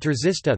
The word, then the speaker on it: trzysta: Polish words czysta, clean, F, pronounced with an affricate, T, and trzysta, 300, pronounced with a sequence, T, are an example of a minimal pair based on such a contrast.